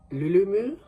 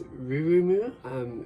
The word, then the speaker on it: Rurumu: And they have a very popular OC character named Lulumu, or in Japanese it's Rurumu.